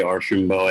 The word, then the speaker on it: Archambault: name correctly uh i've i've made jokes for years that archambault is french for show mostly the way most people pronounce it uh i am